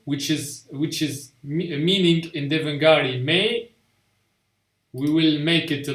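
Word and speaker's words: मैं: So the N is actually not fully sounded. So you say may.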